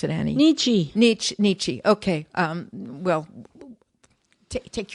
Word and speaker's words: Nietzsche: and this is famous for something called the nietzsche road or the nietzsche path nietzsche nietzsche i